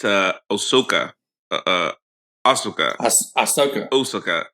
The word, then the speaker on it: Ahsoka: We've been mispronouncing it. What? Yeah, it's not Osaka. It's Ahsoka.